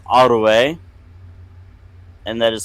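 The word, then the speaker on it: aru'e: If you want to say enemy or rival, it's Arue, and that is spelled A-R-U, Beton, E, Arue.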